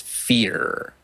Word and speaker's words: PH34R: Is it PH34R or is there a phonetic? It's Fear. Fear, okay.